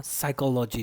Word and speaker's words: psychology: p ကိုလည်း silent လုပ်ရပါတယ် ph တွဲလိုက်တဲ့အခါ f တန်ဖြစ်ပါတယ်ဒီစည်းကမ်းလေးကိုကျွန်တော်တို့တစ်လုံးချင်းလေ့လာခဲ့ပါတယ်ပထမဆုံးစာကြောင်းမှာ psychology ဖြစ်ပါတယ် p တန်ထည့်မထွက်ပါဘူးနောက်တစ်ခုမှာတော့ pneumonia ဖြစ်ပါတယ်ဒါရဲ့ရင်းနှီးပြီးသားစကားလုံးလေးတွေပါနောက်တစ်ခုမှာ recit ဖြစ်ပါတယ် p